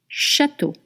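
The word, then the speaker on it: château: Whenever you will see a spelling in a word with E A U, it will always be the sound o.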